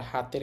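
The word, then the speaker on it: 下手: সেটা হবে না এখানে এটার উচ্চারণ সীতা হবে না এই কাঞ্জিটার এখানে উচ্চারণ ব্যতিক্রম হবে এটার উচ্চারণ হবে হে আর হাতের কাঞ্জির উচ্চারণ হচ্ছে তা একত্রে উচ্চারণ হবে হেতা হেতা অর্থ অদক্ষ এরপর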